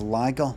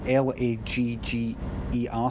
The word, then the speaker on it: lager: I was thinking, but is that not how English people would pronounce lager the same as what they would do? Like if something that lags.